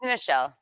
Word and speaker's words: Michelle: Or is it Michelle? Am I saying it right? I want to make sure I nailed it. It's Michelle. Michelle.